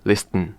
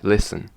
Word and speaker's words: listen: when you listen listen you don't pronounce t listen listen is listen yeah that's nice example